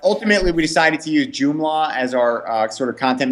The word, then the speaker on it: Joomla: but ultimately we decided to use joomla as our sort of content management system and